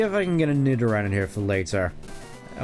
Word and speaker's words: Nidoran: I want to see if I can get a Nidoran in here for later. I want to get Nidoran. For some reason, I always pronounced it Nidoran as a kid, like Matoran.